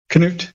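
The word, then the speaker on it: Knut: UT yeah can wait really pronounce k yeah you're bet we don't have you don't you don't have C in Norwegian that they don't use C they use K and it's can like King Cano right okay well I'm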